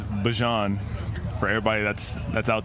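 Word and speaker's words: Bijan: How you pronounce my name is Bjon for everybody that's that's out there.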